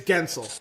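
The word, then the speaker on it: Guentzel: with that one too it's it's gensel gensel uh and I'm I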